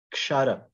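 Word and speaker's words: क्षर: It's like a k. There's a little bit of it's one syllable, kshara. There's a little like kind of stop that it starts with. Kshara. Kshara. Not a two syllable, one shara.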